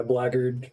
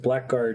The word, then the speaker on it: blackguard: what seriously bozen yeah blackard is a good one i forgot when i learned that because i used to pronounce it blackguard because there was a